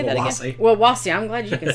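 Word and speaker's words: Wawasee: Wawasi.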